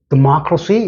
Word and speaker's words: democracy: 발음상 액센트를 두면서 democratic 영어는 이렇게 발음을 할 때 강약 중강해서 되니까 두 번째 액센트는 여기 들어가고 democracy 때는 하나 둘 셋이니까 democracy 이것과 이거는 발음이 완전히 틀리죠. 이건 democracy, 이건 democratic.